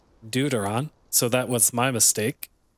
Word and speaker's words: deuteron: of deuteron fuel rods it is pronounced deuteron not deuterion deuteron so that was my